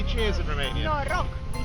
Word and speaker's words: Noroc: Noroc.